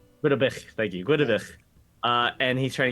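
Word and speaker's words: Gwyddbwyll: Yeah, Gwydabich. Gudabil.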